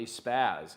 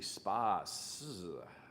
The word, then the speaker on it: SPAS: Not a spaz, it's a spas.